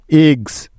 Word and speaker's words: eggs: যেমন এগস, EGGS, এগস। দেখো, এখানে এস এর আগে জি আছে, তাই এস এর উচ্চারণটা জ এর মতো হচ্ছে।